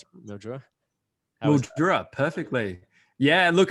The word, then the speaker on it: Mildura: Did I pronounce it? Mildura? Mildura, perfectly.